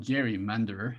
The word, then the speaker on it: gerrymander: Sab Matsumoto: Jerry's salamander, or it should be Gary, but it's called gerrymander.